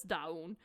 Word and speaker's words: DVWN: they announced that dawun which is written as dvwn but pronounces da un uh an rb singer